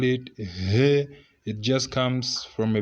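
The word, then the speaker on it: ه: We call it he, something like that. Don't just say he, you call it he, something like that. You can mean to put 2H, he, something like that.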